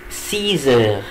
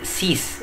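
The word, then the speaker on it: six: هتبقى إلي سيزر، إلي سيزر إلي سيزر. وقلت لكم يا جماعة هنا الإكس هنطقها زد، مش هقول سيس، لا هقول سيز، يبقى إلي سيزر.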